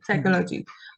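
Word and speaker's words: psychology: साइकोलॉजी की spelling P ये होती है, PSYCOLGY, साइकोलॉजी, पर इसमें पी साइलेंट क्यों रहता है?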